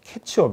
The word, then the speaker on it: catch-up: 적으로 이제 요런 이 캐치 업 발음을 잘 하셔야 되요 감자 찜 어 찍어먹는 태 차비 아니라 뭐라구요 캐치 업 이라고 캣 초 그래서 이 이런